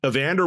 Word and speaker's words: Evander: Evander was like being polite saying like, "Oh, like the boxer like a Vander Holyfield."